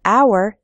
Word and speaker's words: hour: We say a hat because hat starts with an h, h sound, but in the word hour, the h is silent, so we say an hour.